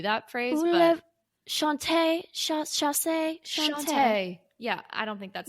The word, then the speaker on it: chat: cat kitty cat and it's sh sha it's spelled chat c h a t but you say sha that's right so actually